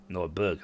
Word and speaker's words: Nordberg: I probably got the name wrong because I called it Northburg. Begging your pardon, Dark Lord, but I thought you should know something. There are some troublemakers in Nordberg. Nordberg, not birth.